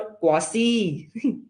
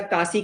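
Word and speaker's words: quasi: सर कौन सा है वो थर्ड, क्वासी आपने लॉ में पढ़ा होगा बेटा, कासी कासी बोलते हैं कुछ लोग, हाँ जी सर क्वासी, हाँ जो भी होते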